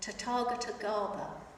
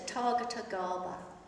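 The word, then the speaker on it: Tathāgata: known as Tatar Gara it took me a long time to learn how to say that and in fact I've just been told I've been saying it wrongly for a long time so to Target Gara uh as it traveled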